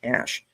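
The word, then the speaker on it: CSH: the medical portion of the C S H pronounced like cash.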